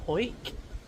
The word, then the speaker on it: Hawick: So, a lovely peaceful night in Ho, which I'm told is how you pronounce it.